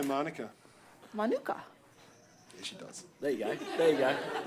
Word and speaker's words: Manuka: Manuka.